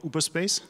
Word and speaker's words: Uberspace: Just to plug them, they are called Uberspace. They're called Uberspace. .de? .de, uberspace.de. Yes, and so if I spell it correctly, it's Uber, now, like Uber and space as in space.de.